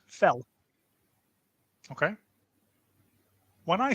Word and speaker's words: fel: Up in Hungarian is pronounced fell.